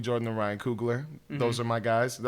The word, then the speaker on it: Coogler: Jordan and Ryan Coogler. Those are my guys. Did I say that name wrong? Coogler?